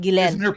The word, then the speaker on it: Ghislaine: Let me just establish for you two men, her name is Ghislaine. It's actually pronounced Ghislaine.